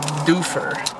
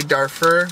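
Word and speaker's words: Dufur: And then after that, we're heading a little bit north to a town called Doofer. I keep wanting to say Darfur, but it's Doofer.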